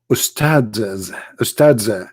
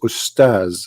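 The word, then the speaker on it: أستاذ: Even they don't know even how to say the word because the word Ustads is not correct in the way they say it. The word in Arabic is Ustaz, which means a master, teacher.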